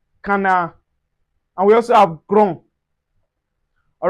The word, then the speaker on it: grand: A masculine, we say grand. Grand. The D is not pronounced, but once you have the E that is followed, we can say grand, which signify feminine.